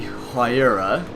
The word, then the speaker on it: Huayra: change pagani um it's known as the pagani huayra it's the correct way to pronounce it it's p um h-a-u-y-r-a if i'm